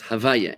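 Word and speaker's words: הויה: We we we rearrange the letters to just pronounce it as Havaya. H A V A H. Yeah. Y A H. Right. Havaya.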